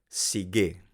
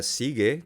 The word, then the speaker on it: sige: Sigue. No se pronuncia sigue como en español, se pronuncia sigue, con el acento en la última sílaba.